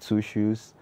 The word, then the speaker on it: 2Shuus: was like, he heard people saying my name, Shushu Shushu, and I was like, yo, what's his name again, Shushu? And they were like, yeah, and it was like, I sent two shoes.